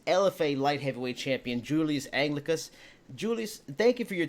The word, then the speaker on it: Anglickas: Anglickas.